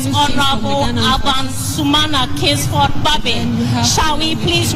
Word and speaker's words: Sumana: You know, yesterday I learned from the Speaker that his name is Sumana. You know, and sometimes we in the media mispronounce the names of people a lot.